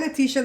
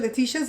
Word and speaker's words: Leticia: Hi, Leticia. Leticia's in Belize. And let me say it a different way, because Americans say Leticia, but Belizeans say Leticia. Or maybe it's the Hispanics that say Leticia.